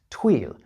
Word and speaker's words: tweel: But the story goes that the ignorant English misunderstood the local pronunciation of twill, which in Scots was tweel, and thought the woven wool had been named after the Scottish river, the Tweed.